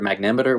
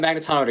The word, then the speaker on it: magnetometer: he refers to like magnometer magnameter whatever you call like magnetometer again magnetometer yeah missed a syllable in there but you have metal